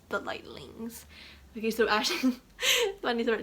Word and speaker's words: Lightlings: And now you're like, Pristine, you pronounced that incorrectly. It's the Lightnings. No, it's the Lightlings.